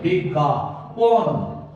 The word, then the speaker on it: বিজ্ঞাপন: তাহলে এই দিয়ে দিলাম চন্দ্রবিন্দু, বিজ্ঞা পন পন। এই দুটো একসাথে উচ্চারণ করছি, এই জন্য আমরা সবসময় বিজ্ঞাপন।